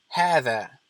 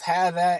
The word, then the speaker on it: هذا: Both هذا and هذه are pronounced as if there is an aleph after the ha. However, that aleph is omitted in writing.